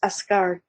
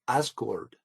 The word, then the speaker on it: Asgard: also the root for Asgard? Asgard is pronounced Asgard, which is the Americanization of it, is pronounced Asgard, kingdom, and this is the kingdom of the Norse gods.